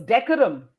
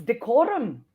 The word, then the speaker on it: decorum: Like I always thought it was decorum, but it isn't. It's decorum.